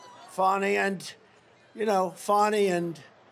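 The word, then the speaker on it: Fani: funny fny it's spelled Fanny it's spelled Fanny like your ass right Fanny but when she became da she decided to add a little French a little fancy fny fonny and you know fonny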